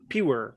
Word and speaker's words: pure: আর শেষের রটা আর এর মতো উচ্চারণ হয়, পিউ, তারপরে বলবেন আর, পিউ আর, পিউ আর, একসাথে মিলাই দেন কি হয়? পিওর, পিওর, পিওর, কি হবে Pure.